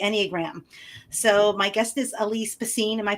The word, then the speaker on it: Alyse Bacine: So my guest is Alise Bassine. Am I pronouncing that correctly?